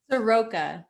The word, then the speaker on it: Evan Soroka: last name i want to make sure you soroka thank you okay beautiful evan soroka is the